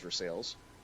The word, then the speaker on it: Versailles: still in missouri in versailles actually which uh is spelled versailles but pronounced for sales it's missouri it's america